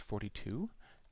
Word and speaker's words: 4D2: I picked a few programs to download already, and they are going to be a video art program called 4D2, which is pronounced 42, and it's going to be right here.